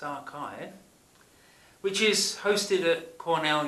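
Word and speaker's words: arXiv: of Wikipedia and arts it should probably be pronounced archive which is hosted at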